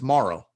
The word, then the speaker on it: Mauro: Did I pronounce that correct? It's Mauro. Yeah, you got it.